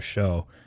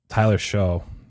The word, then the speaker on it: Shough: asked Bob, who's an Oregon Ducks fan, Tyler Shough, Shough. That's why I was trying to confirm with him pronunciation, which it sounds like I was right, but it's a little dangerous.